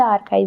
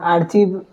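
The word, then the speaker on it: archive: नहीं है वो उ आर्काइव बोला र आर्चीव लिखा आर्चीव जाता है प्रोनाउंस उसका आर्काइव होता है आर्काइव तो ये आपको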